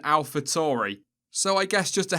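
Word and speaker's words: AlphaTauri: least seven pronunciations but he seemed to be hovering around alpha Towery rather than alpha Tory so I guess just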